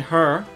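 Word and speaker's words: Herre: getting hot cutting her it's pronounced her its belt her have you spell that ap or or 80 h er re yeah okay it's my hurrr or is that her no it's her you're saying her it's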